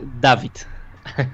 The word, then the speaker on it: Dawid: The pronounce is correct? David? Dawid.